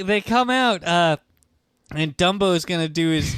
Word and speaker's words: Dumbo: It's pronounced Dumbo. Usually saying Dunbo. No. Dumbo.